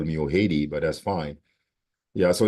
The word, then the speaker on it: Ojede: So I have a lot of my Latino friends always call me Ojede, but that's fine.